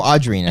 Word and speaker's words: Audrina: Audrina no it's Dina no Audrina it rhymes with Serena I for you why